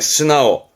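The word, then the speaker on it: 素直: 예, 스나오. 앞에 소발음은 스루 가는 것이 보통인데요. 요 직자가 이 나오스 때문에 발음이 스나오라는 거, 우리말로는 솔직한, 순수한, 자주 보입니다.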